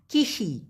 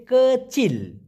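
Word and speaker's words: kecil: ভাষায় বলা হয় কচিল অনেকে বলে কিসিমিয়ালা কিসি মূলত হবে হচ্ছে কচিল কাচিল তো এই ছোট দিয়ে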